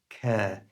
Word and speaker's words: care: Notice I don't pronounce the letter R in the word care.